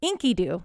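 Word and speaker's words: Enkidu: written documents the features Inky Doo that's how you say it Inky do nice who is a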